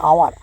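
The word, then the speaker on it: hour: H silent है। तो इसको पढ़ेंगे आवर।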